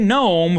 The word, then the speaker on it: gnome: Now this is where we get the exposition that Norm is a gnome from the underworld. And apparently they pronounce the G's in the underworld because it's pronounced Gnome and Gnorm respectively.